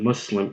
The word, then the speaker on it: Muslim: this english word so when you make the sound us when you say the US and mu s.l.i.m it is identical to the sound that you make when you say the USS in the word was I mean this sound exists in the English language so when you say